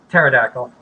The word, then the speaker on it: pterodactyl: Pterodactyl. Oh, I didn't realize there was a P in pterodactyl.